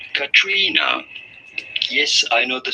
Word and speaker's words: Caitriona: And it's spelled C A I T R I O N A. And to me it would be like Katrina or whatever, but it's Katrina.